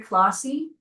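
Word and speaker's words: Clohosey: Hi, my name is Clausy.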